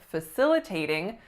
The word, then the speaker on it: facilitating: its number to sit what most of my clients do is they don't stress it enough so instead of facilitating the word ends up sounding like facilitating but what I want you to say is facilitating facilitating we're at number